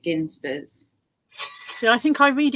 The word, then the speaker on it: Ginsters: discuss if you wish i've heard that it's pronounced jinsters but i've always pronounced it ginsters so i think i